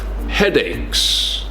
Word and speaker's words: headache: Headaches. I have a headache. The CH in this case is pronounced like a K sound.